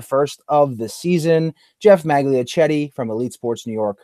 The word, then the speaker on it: Magliochetti: Andy, the Patriots fan in Massachusetts, and a very special guest, the first of the season, Geoff Magliochetti from Elite Sports New York, who covers the New York Football Jets.